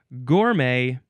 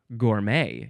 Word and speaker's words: gourmet: It's gourmet or gourmet. You can emphasize either syllable.